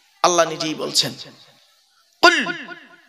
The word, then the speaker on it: কুল: খবরদার নয়, উচ্চারণটা ঠিক রাখুন। আল্লাহ বললেন কুল, নবী তুমি বলো, হু আল্লাহু আহাদ, সে আল্লাহ হলেন একক।